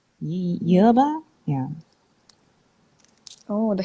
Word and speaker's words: yerba: manner but yeah yeah because it's a y sound yerba yeah oh the h